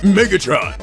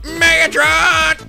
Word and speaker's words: Megatron: no oh no mega Megatron no you don't you're not saying right you got to say it like this oh no Megatron what is that what